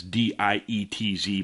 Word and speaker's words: Dietz: lucy inman against republican rich dietz and that's d-i-e-t-z but it's pronounced dietz dietz has a proven track record as an originalist pro-second amendment conservative i strongly recommend you vote rich deets for north carolina supreme court c3 meanwhile the